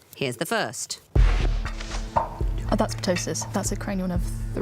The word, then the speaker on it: ptosis: again we think which might be pronounced silent P we think I mean I would say ptosis without the p as well but I'm fairly relaxed